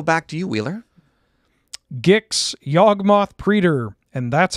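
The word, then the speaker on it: Yawgmoth: on and go back to you wheeler gixx yogmoth preter and that's how it's pronounced one black black for a 3-3 legendary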